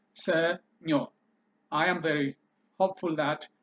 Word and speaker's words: ሰኞ: this by yourself without me giving you the pronunciation in English letters. Senyo.